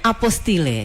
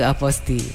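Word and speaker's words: apostille: Kenapa saya harus membacanya aposti dan apa itu aposti? Iya. Karena kan memang banyak masyarakat itu ee ada yang pengucapannya apostile ya atau apostil gitu, tapi kita lebih ee ee mengharuskan untuk aposti gitu.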